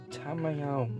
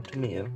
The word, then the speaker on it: Tamiya: will be weathering with tamayo weathermaster or tamiya depending on how you want to pronounce it i only have